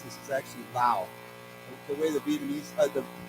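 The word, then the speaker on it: Laos: many many most Americans we say LA but actually the way I've been taught when I went there the way to pronounce this is actually Lao the way the vietamese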